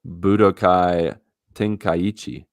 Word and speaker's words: Budokai Tenkaichi: What about Budokai Tenkaichi? That's the correct pronunciation of that.